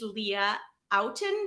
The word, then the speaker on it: Leah Outten: which i'm really excited about her name is leah outen did i pronounce that right that's right now perfect and